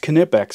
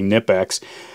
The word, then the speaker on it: Knipex: is the difference between the canipax which is pronounced canetbacks according to the knipex company every time i do one of the videos some people say it's actually nipax i i used to think it was nip